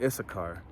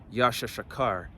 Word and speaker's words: Issachar: be the tribe of issachar and when you look up the tribe of uh issachar and the Hebrew I mean it's Yasha shakar which means he is